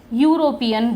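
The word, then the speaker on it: European: क्यों लगाया है, क्योंकि जो इसका प्रोनाउंसिएशन होता है वो यूरोपियन होता है, ई नहीं होता, ई यूरोपियन नहीं होता है, या से स्टार्ट होता है, तो ये क्या आएगा, इससे पहले आ आएगा।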